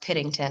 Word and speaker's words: Pittington: Actually, my full last name is pronounced Pittington.